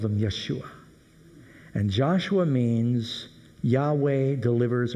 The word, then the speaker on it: Yeshua: was doomed to destruction how do you say the name Jesus in Hebrew Joshua or more specifically Yeshua and the way that